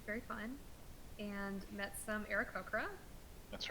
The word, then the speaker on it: Aarakocra: You're saying it correctly. It's just Brett and I have thought Arakoa sounds better, but okay. Yeah, Aarakocra I think is the correct pronunciation.